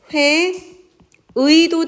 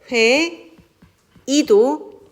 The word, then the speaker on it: 회의: 번째 이후를 얘기하는 겁니다 두 번째 이후부터 음절에 오는 의의 경우에는 의를 발음하는 것이 원칙이나 단모음 이로 발음하는 것도 허용한다고 했습니다 자 그래서 예를 들어 보면 회의라고 했을 때 회의도 되지만 회 이도 허용한다는 이야기 자 그다음에 세 번째